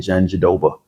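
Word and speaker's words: Jandiroba: I always call her Handi Robba because that's how I think it's probably really pronounced, but she lets Americans get away with saying Janjoba. Uh, Yan Jaan, she fights out of orthodox stance.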